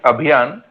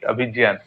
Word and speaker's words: Abhiyan: It is Abhiyan, but Okay, I think maybe the professor is Bengali, so he is pronouncing it Abhijan.